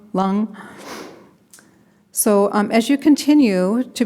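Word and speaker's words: Lam: uchi which is pronounced lung like rhymes with tongue lung so as you continue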